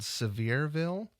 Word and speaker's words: Sevierville: Did you say the town was called Sevierville? Sevierville, Tennessee. Like severe? Well, it's spelled a little different.